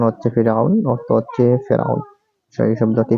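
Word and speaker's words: فرعون: বার তারপরে দেখবো আমরা ফেরাউন শব্দটি হচ্ছে ফেরাউন উচ্চারণ হচ্ছে ফেরাউন অর্থ হচ্ছে ফেরাউন এই শব্দটি করার মধ্যে এসেছে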